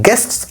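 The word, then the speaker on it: guests: गेस्ट्स आर जस्ट like that. गेस्ट्स गेस्ट आर जस्ट like that. सारे ही ऐसे होते हैं। ऑल गेस्ट्स आर जस्ट like that. All गेस्ट्स आर जस्ट गेट्स नहीं।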